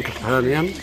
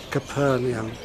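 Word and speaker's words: Capernaum: And uh we're now in Capernium pronounced different ways really but let's use the typical English variation Capernium.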